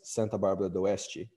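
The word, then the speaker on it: Santa Bárbara d'Oeste: Paulo, in the city that you heard me pronounce as Santa Bárbara do Oeste.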